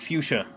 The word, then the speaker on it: fuchsia: Yeah, Stoolpenner, that's how you pronounce it's pronounced fuchsia. Isn't that ridiculous? Like, that's why no one can spell it.